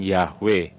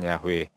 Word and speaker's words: Yahweh: Untuk sebagian orang membacanya itu dengan sebutan Yahweh, ya, melafalkannya dengan sebutan Yahweh, ya.